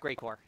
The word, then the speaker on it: Geigor: It's pronounced Greycore.